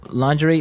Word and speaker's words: lingerie: And the first one is lingerie. Lingerie. Lingerie. Okay. So, lingerie. This is a nice fancy word. Mhm. Basically for underwear. Right. Right. For women's underwear. Women's underwear. Yeah. So, lingerie, but it's very nice.